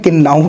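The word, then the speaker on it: kinnow: और इसको इंग्लिश में भी एक्चुअल में किन्ना किन्नू कहते हैं। के I double N ओ डब्लू करके इसका स्पेलिंग है किन्नू। किन्नू हैं? तो वो इंग्लिश और हिंदी सेम ही है।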